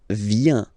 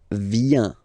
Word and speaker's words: viens: So the first form is je viens. Je viens. Okay? Remember this I, viens, viens, and then this nasal. Final S not pronounced.